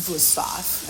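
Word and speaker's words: Wüsthof: the market for a new knife go with boof um it's spelled with V but it's pronounced vof and a lot of people don't know that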